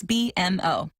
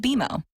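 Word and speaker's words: BMO: when you do I bet you'll call us BM o don't worry it's more common than you think but we actually pronounce it beo as in with bimo you can earn a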